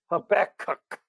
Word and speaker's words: Habakkuk: the book of habakkuk that's how you pronounce that guy's name a back cook a back cook a back cook put the emphasis on cuck uh i challenge you